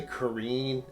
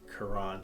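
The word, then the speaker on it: Carène: It's a Waterman Carene. Is that how you say it? I don't know. I always say Carene. I've been saying that for years, but then Yeah. I recently learned it's like Carene.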